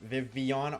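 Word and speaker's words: Vivillon: So I literally have it as hold the L to remind myself that there's you don't pronounce the L's in Vivian.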